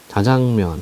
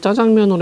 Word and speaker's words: 자장면: 복다 복다이가 와서 복이 자장면 자장면은 짜장면으로 해도 돼요 복수 표준 호야 짜장면 또는 자장면 둘 다 됩니다 갈국수 수제비 육계장 김치찌개